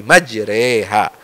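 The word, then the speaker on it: مَجْرٰىهَا: ini semua dibaca semua membaca imalah itu hanya satu saja di surah hud ayat 41 ini Bismillahi majreha antara fathah dan kasrah itu satu ini cara membacanya ya jadi jangan salah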